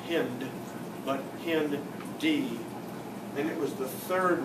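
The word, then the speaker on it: HindIII: and species that strain look down here at hindi three hemophilus that's the h influenzae that's the i n strain d and that tells you how to pronounce these two not hind but pin d and it was the third one found in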